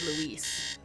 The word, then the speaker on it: Louis: Now, in my defense, it's spelled Louis, and that's like a lot of vowels to just be Lewis. I would say Louis before I said Luis.